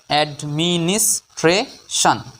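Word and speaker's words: administration: না সন হবে সবসময় টি আই ও এন এই শব্দা অংশটির বাংলা উচ্চারণ হবে সান অর্থাৎ এডমিনিস্ট্রেশন বাংলা অর্থ প্রশাসন পরের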